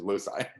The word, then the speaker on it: loci: checked that on the i checked that on the cambridge dictionary the pronunciation in us english is lucy anyway but feel free to pronounce it however you want of course as opposed to somebody i've heard people saying lokai oh oh i would have said loci but um i mean